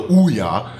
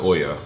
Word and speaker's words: Ouya: Don't think about the Ouya, and I know it's pronounced Oya, or I think, but I call it the Ouya.